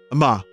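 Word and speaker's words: Emmalee: the younger the part spelled lee is silent and emma is accented on the second syllable thank you in advance for your correct pronunciation of my name so it's ama the younger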